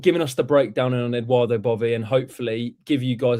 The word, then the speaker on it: Edoardo Bove: I think it's Edoardo Bove. I'm not Italian, but that's how I've been told it's pronounced.